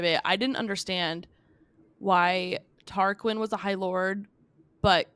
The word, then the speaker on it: Tarquin: Parkland no did you I don't think it's pronounced Tarkin it's q-u-s it sounds bad yeah tarquin sounds right to me yeah it's that I